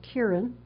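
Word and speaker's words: κρίνειν: So, uh, a crisis comes from the the Greek word, which I'm told is pronounced kierin, and it's a very, uh, kind of harsh verb.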